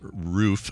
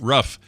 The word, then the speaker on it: roof: on to say uh canadians tend to pronounce roof with a oof as in my as an oof my toe i stubbed it where brian pronounces it rough uh i don't her she says rough but i think it's more like riff roof it's different um i don't get